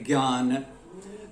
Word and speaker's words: ज्ञान: ज्ञों के साथ समस्या आती है। ज्ञों का उच्चारण दक्षिण भारत में कुछ भिन्न है। महाराष्ट्र में मैसूर के कुछ भाग में भी मुझे भिन्न मिला, और उत्तर में प्राय अधिकांश क्षेत्र में ये ज्ञों है। इसको उच्चारण के स्तर पर अगर हम लिपिबद्ध करें तो ये लगभग ग, य और अनुनासिक ज्ञ इस तरह हो गया है, ज्ञान। तो इसको यही मानक भी माना गया है।